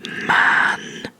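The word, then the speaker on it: maandag: I said phonetic language if it has a long a it's Ma and then it has a shorter a because there's only one a so it's it literally means Monday moonday basically man and be sure to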